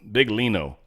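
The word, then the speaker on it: Biglino: Moro bigo big Leo big Lino that's how you would sort of spell it but you sort of don't pronounce the G he's not the actual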